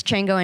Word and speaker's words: Chjango: It's Chjango Unchained. It's at CHJANGO. The J is silent.